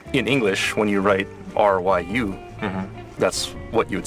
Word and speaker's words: Ryu: Ryu in English and Ryu in Japanese. Yeah. So do you guys have a problem to pronounce, like Ryu sound? I actually did. Before I learned Japanese, I played Street Fighter and stuff, and I always said Ryu.